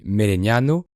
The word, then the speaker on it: Melegnano: En italien, elle se dit Melegnano, et peut-être que les